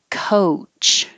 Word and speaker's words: coach: over here episode episode coach this o a sounds like oh and home so i'm using the oh you to remind you